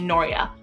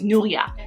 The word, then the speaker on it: Nuria: so i'm like noria so throughout school everywhere people were calling me noria my name is nuria enough is enough like